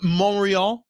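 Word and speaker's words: Montreal: oh actually no I've been to monreal that's how you pronounce however there was a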